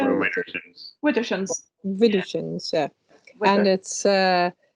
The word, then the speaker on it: Widdershins: Widdershins.